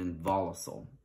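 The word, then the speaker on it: involucel: I think some people will say like involucile or involucra, but it's involucre and involucile, okay?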